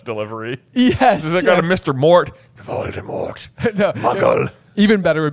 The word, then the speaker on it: Voldemort: yes got a Mr Mort Voldemort mugle even better would be like Mor you know because you're not supposed to pronounce the T I think yeah Jim I think